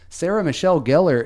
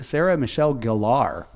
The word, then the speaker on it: Sarah Michelle Gellar: the English name yeah you know another commonly mispronounced celebrity name I found out that Sarah Michelle Gellar is actually Sarah Michelle Gellar mm-hmm yeah saying that since like 95 oh